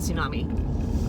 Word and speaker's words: tsunami: some alliteration there but you don't pronounce the tea and tsunami a toddler tornado there